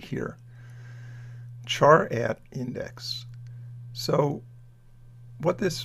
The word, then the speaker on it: char: right sometimes g a c-h-a-r and pronounce char instead of car or whatever so the character at